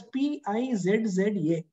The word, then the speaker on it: pizza: When you write, you'll write it as P-I-Z-Z-A. That is supposed to be the spelling. But when you pronounce it, you have to pronounce it as pizza. Pizza, that means there's a T.